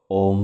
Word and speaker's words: ওম: ওম শব্দটিকে আপনারা তিনটি ভাগে ভেঙে নিন। ও অ আর ম। ও অ আর ম। ও এর উচ্চারণ নাভি থেকে। অ এর উচ্চারণ গলা থেকে। ম এর উচ্চারণ মাথা থেকে। ও এর উচ্চারণ নাভি থেকে মানে ও। অ এর উচ্চারণ গলা থেকে। অ ম এর উচ্চারণ মাথা থেকে ঠিক এভাবে মাথা ভাইব্রেট করবে।